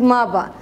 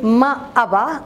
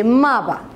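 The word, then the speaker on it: ما أبا: why you pronounce it maba? In Emirati dialect, because we try to like combine the word and we say it really fast, so instead of saying maaba, I said maba.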